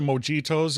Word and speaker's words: mojito: I do like the mojitos. Is that how you pronounce it in Spanish?